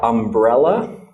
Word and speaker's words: umbrella: okay and then another example of the word umbrella umbrella I'm para la ok and here this is the stressed syllable umbrella okay so let's just write stress